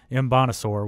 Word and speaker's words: Mbonasor: The way that he's able to fit into this defense, and if there's according to the pronunciation guide, it is Mbonasor, which is a fantastic last name.